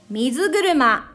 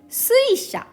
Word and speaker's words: 水車: name of breathing technique they say mizuguruma mizuguruma this is japanese original way of reading however this is also okay suisha this is onyomi which is based of the way of reading in chinese and we imagine when